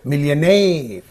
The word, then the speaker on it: millionaire: this suffix is getting getting split into two syllables then it receives on the first of it so you have to say millionaire similarly questionnaire is there this is a suffix